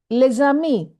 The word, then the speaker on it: les amis: Another example, les amis. We don't say les amis, which means the friends. So here S is normally silent, but it is pronounced Z because ami begins with a vowel.